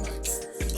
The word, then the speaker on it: Mic: It's not like a Mick, but it's Mike.